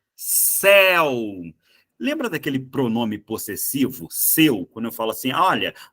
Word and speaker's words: seu: Lembra daquele pronome possessivo, seu, quando eu falo assim, olha, você estacionou o seu carro aqui na frente. Seu também é um ditongo, só que repara que o eu é fechado.